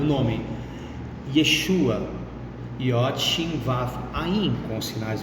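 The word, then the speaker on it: ישוע: em hebraico o nome Yeshua yin vaf Aim com sinais massoréticos para dar a vocalização Yeshua em português ah se em hebraico eu falo Yeshua em português é Jesus não é Yeshua Ah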